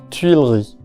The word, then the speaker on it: Tuileries: Tuileries.